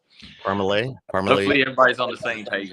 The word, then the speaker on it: Parmalee: right yeah that's but actually how do you say it if you're from there you would there's no way you'd pronounce that right so parmalay everybody's on the same